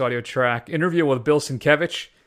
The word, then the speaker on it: Sienkiewicz: track, interview with Bill Sienkiewicz, who I always called Sinkowicz for most of my life until I saw his Twitter handle, and his Twitter handle is actually how to say his name.